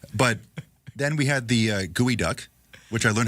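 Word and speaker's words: geoduck: But then we had the gooey duck which I learned how to pronounce last week.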